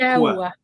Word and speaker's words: Ankaoua: Dans le fond, de Maude Anne Quoi. Anne Quoi. Je pense comme il faut, Valérie. C'est Anne Quoi. Ankawa. Ankawa. OK, Ankawa, c'est dur à prononcer.